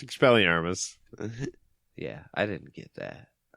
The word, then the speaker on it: Expelliarmus: Yeah, it's Expelliarmus.